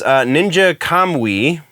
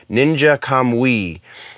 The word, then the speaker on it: Ninja Kamui: And then the one that kind of has me a bit more excited is Ninja Kamui, I believe is how that is pronounced, follows a Joe Heigen, who is the